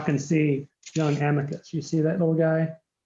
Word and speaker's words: amicus: um whose name is amicus we gave him the the Texas pronunciation not Amicus but Amicus um and his middle